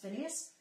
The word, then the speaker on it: Phineas: Phineas.